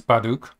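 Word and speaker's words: 바둑: Is Baduk, or yeah, that's a pretty close pronunciation, I think. The B might be pronounced a bit more like a P, actually.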